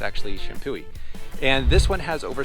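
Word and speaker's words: Champoeg: kind of the central wine country area is Champooi State Park. Now, it looks like it's pronounced Champo, but it's actually Shampooi.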